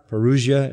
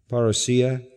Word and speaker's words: parousia: The word here is parousia, or parousia, as you sometimes hear it pronounced, parousia.